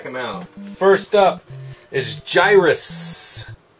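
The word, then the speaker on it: Gyruss: First up is Gyrus. You have to say it like that because it's got two S's.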